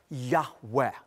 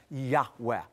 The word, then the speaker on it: Yahweh: He, Vav, He, which most ancient Hebrew scholars of the ancient Semitic language feel is pronounced a breathy Yahweh.